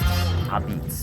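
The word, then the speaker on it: apizza: But first, why is it pronounced a-beetz? Right, yeah. In Naples, Italy, la pizza is shortened to a-pizza in the local Neapolitan dialect. And when those Neapolitan immigrants came here to Connecticut, a-pizza was shortened even more to the Italian-American a-beetz.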